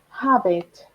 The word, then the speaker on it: habit: Be careful with habit. The H has a sound here.